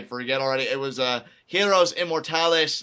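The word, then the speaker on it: Héroes Inmortales: already it was a hero's immortalis 9 yeah arrow is in more time analyst immortalis not the well it's it's Spanish so you can't pronounce the h and ease always sound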